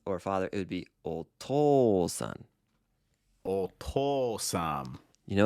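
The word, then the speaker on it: お父さん: not really that's because an ooh after an O makes a long o sound oh yeah I like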